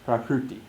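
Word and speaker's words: prakṛti: swoboda's book Park PT it's pronounced the same ideally it's pronounced prakruti krishna has the same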